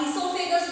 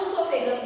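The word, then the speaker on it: oesophagus: ठीक है, ऊसोफेगस, चाहे आप ईसोफेगस बोल लो, चाहे आप ऊसोफेगस बोल लो। ठीक है, कोई भी एक वर्ड साइलेंट हो जाएगा आपका।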